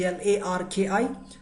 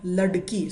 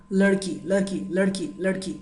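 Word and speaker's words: लड़की: It's la, da, ki, and below the da you will see a small dot, ladki. So that's not da sound, that's not ra sound, that's like between them, ladki, right?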